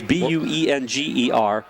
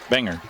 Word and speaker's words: Buenger: It's Buenger. And Justin, we apologize if we're mispronouncing your name. Benger. Benger? Like sounds like what they're saying. Benger. Okay. Forget the U. Benger.